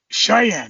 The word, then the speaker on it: Cheyenne: at issue number seven and helped me with pronunciation here corey cheney kid that if that sounds right the cheyenne kid cheyenne that's it see i i don't even know